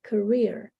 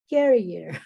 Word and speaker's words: career: talk about your profession you say you're a career but most of the students that I hear they say carrier this one Gary you